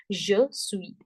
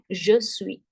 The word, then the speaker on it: je suis: Here this silent, here this silent. Je suis, je suis.